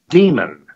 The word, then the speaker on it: Dimon: is extremely important here his name is pronounced not diamond but demon I used to work